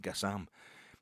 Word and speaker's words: Gassam: Gassam, sorry, it's Gassam he wants to be called. That's his name. He wants to be called that as if he's fussy. That's the guy's name. That's how it's pronounced, Gassam.